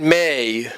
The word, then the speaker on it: Mei: So, the ending of the story series currently, had May, that's M-E-I, May, demonstrate to her friend Zahara,